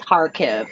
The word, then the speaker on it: Kharkiv: Kharkiv. Gosh, I know it's hard, and I'm not picking on you. It's just I've had to learn these names too, and it's Kharkiv, no K. Kharkiv.